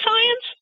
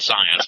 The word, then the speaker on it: PSIence: piece I just called science yeah science because you know when we talk about Psy PSI activity the p is silent the term Psy has